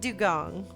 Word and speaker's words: dugong: yeah I know but they're both dugong like it's spelled and pronounced it's spelled differently pronounced the same I love that thank